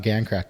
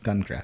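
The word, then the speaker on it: Gan Craft: it again gun craft it's not gang craft it's gun craft gun girl gun craft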